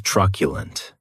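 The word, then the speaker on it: truculent: The next adjective is tculent. And this word has three syllables. And the stress is on that first syllable.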